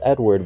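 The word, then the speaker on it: Eadweard: popular exhibit ID weird mbridge whose naming suggests pronunciation is Edward but I refus to showed off his Zoo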